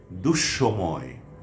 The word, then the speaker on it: দুঃসময়: যদি শব্দের বা পদের মধ্যে বিসর্গ থাকে তাহলে বাংলা উচ্চারণে বিসর্গ পরবর্তী ব্যঞ্জন বর্ণের উচ্চারণ দ্বিত্ব হবে, অর্থাৎ দুবার হবে।